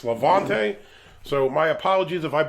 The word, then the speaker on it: Levante: their beers and I wasn't sure if it's was pronounced lavant or lante somebody commented in one of the other videos and says it's Lavante so my apologies if